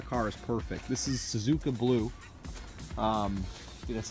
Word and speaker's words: Suzuka: pay in the car is perfect this is Suzuka blue that's how you pronounce it the wheels are in perfect shape